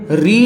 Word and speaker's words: ऋ: पर नहीं होता है क्योंकि इसका उच्चारण करते समय र और ई आएगा मतलब व्यंजन आ रहा